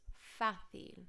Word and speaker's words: fácil: repeat megastar porque es fácil notice it's got an accent on the ace you have to put emphasis on that I like it because